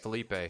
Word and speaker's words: Phillippe: Chat, MacGruber, starring former SNL cast member Ryan Phillippe. Is that how you say his name? Felipe.